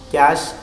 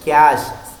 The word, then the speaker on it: cache: Another type of memory is cache memory, pronounced as cache, don't as cache.